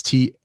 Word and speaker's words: Tomoson: it and spell, because there's like different ways that say Tomoson, but it's Tomoson.